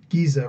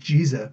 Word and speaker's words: Giza: Far larger and older stories being exposed at Giza right now. Well, just the idea they changed the language. It's actually supposed to be pronounced Giza, but the Egyptian Arabic, they pronounce G instead of J. So, Giza.